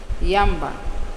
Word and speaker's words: Yamba: She emphasized the two syllables of her name, Yamba, and I am very pleased to make the acquaintance of you people.